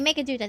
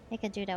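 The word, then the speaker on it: Meghaduta: before we gathered at Megaduta. Okay, Megaduta, there we go. See? We just have to count for a voiced cutscene to see how things are pronounced. Megaduta, okay, I'll remember that.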